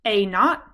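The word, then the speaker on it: A naught: prefer is we say a not that is pronounced a not and I believe it's spelled a n a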